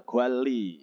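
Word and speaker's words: 관리: Jadi maksudnya ketika nian ketemu real itu dibacanya real niannya ya. Jadi menjadi real semua gitu ya. Entah apa di depan atau di belakang. Contohnya ada nomor 1 gwali ya, bacanya gwali ya.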